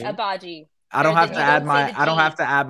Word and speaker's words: Agbaji: Oh, so no, the G is not the G is not pronounced. I have a clip for everybody. Ochai Agbaji. I have a clip for everybody. So it's not Agbaji. Abaji.